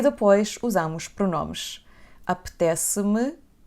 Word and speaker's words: apetece-me: Apetece-me, então pronunciamos estas duas palavras como se fosse uma. Apetece-me.